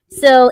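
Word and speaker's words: Sil: classic Who, Nabil Shamban, and I can never pronounce his character. It's supposed to be what? Syl, I did say it right. Syl in Doctor Who and everything.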